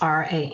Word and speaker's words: RAM: The mantra for the solar plexus is RAM, pronounced with the roll to the R, as in Ram.